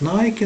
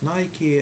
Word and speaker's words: Nike: You know, it is the company producing sports equipment, and we used to pronouncing this word as Nike in our country. However, Americans they are pronouncing this word as Nike, and this is the correct pronunciation because, you